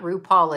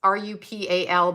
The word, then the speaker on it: Rupal: It's not RuPaul. It's RUPAL, but it's pronounced prettier by her.